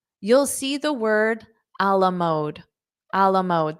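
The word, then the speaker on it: à la mode: see the word alamode Alam mode this is not English this is French Alam mode which does not mean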